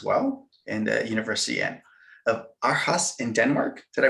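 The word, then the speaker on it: Aarhus: environmental studies as well in the university and of our house in denmark did i pronounce that correctly yes yes yes aureus university i studied there for just for some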